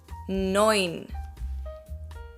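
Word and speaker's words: neun: nine but nine nine the e and u in german is pronounced as an oi noin good job okay and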